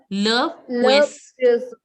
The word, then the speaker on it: poisson: Le poisson. Le poisson. Le poisson. Poisson. Poisson. Like the way you say swear. Swear. The same way you say pouet.